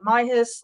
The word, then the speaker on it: MIYHS: us call it Mayas I call them Mayas people pronounce the acronym slightly differently I have some people call it my hiss like I don't know